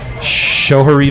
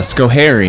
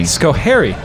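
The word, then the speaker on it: Schoharie: Sharie Valley, uh, Skohairy. Scohery.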